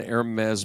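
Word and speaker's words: Hermès: I first moved here sounds likey store and Hermes Boutique oo yeah uh I it took me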